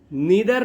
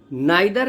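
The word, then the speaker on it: neither: नीदर नॉर, नाइदर नॉर, आप नीदर नॉर भी pronounce करते हैं और नाइदर नॉर भी, तो इसका मीनिंग होता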